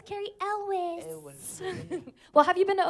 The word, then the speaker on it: Elwes: Elwes. Elwes.